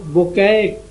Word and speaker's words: Bucaille: تو ہے مورس بوکیلے، جیسے لکھتے ہیں MAURICE BUCAILLE، لیکن وہ اس کا پروننسیشن جو تلفظ اس کا ہے وہ بوکے پڑھتے ہیں اس کو۔ یہ فرانسیسی لفظ ہے،